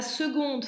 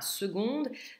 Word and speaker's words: seconde: E du féminin à seconde. De toute façon, s'il n'y avait pas de E, le mot ne se prononcerait pas de la même façon, le D serait muet.